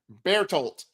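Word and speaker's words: Bertolt: BEAR TOLT.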